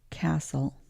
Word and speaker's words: castle: So that T is silent. Castle.